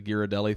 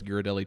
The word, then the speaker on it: Ghirardelli: I think the last day we went to the Ghirardelli thing in Disney Springs.